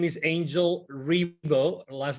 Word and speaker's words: Ribo: My name is Angel Ribo. Last name is Ribo, spelled like R-I-B as in boy, O.